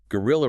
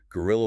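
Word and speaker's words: guerrilla: A good sentence is gorilla warfare is very difficult to stop because the fighters hide easily. A quick note on pronunciation for our listeners. It sounds exactly like the animal gorilla.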